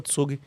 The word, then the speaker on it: Zug: Mas voltando, tem tem, por exemplo, tem um tem um cantão na Suíça que se chama Tsug, eh, se escreve Zug, tem tudo isso no livro.